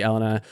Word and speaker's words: Elina: camera right now I can I cannot see Ellena um God did I say it right no